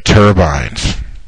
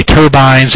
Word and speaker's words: turbine: going to say extra turbines and I looked it up you can say turbines and you can say turbin both of them are the correct pronunciation hey we got a